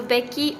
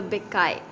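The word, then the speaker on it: Bacchae: The Becky, or it can also be pronounced as the Beccae.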